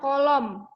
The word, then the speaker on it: coulomb: Q muatan listrik satuannya kolom. Kolom itu tulisannya coulomb, tapi membacanya kolom.